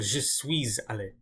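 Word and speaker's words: je suis allé: video, I mentioned that you have to pronounce this s when there's an a after it. So je suis aller.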